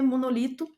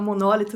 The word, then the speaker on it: monólito: tem nada a ver monolito monólito né Parece que se fala monólito não monolito a pronúncia Descobri um dia desses